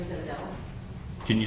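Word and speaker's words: O'Dell: with a C, and my last name is Odell. Can you spell that for me, please?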